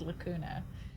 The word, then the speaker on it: Lacuna: There was a double-decker train in the other game we're playing, Lacuna, because it rhymes with Hakuna Matata, so it's called Lacuna.